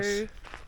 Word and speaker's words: Rhodes: We're in What's up, my Rhodes. mammals? My mammals. We're in Rhodes, also Rhodos. pronounced as Rhodos, which I prefer saying Rhodos. Sounds cooler.